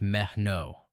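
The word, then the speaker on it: μένω: Mon comes from the Greek verb meno, pronounced meh-no.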